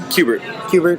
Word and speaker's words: Kubert: Do you know how to say his name? Kubert. Yeah, it's Kubert. Okay. Like the little orange guy.